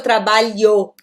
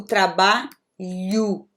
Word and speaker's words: trabalho: quando a gente fala trabalho, né? Eu não pronuncio trabalho, eu digo trabalho, ok? Esse O no final da palavra vai ter som de U.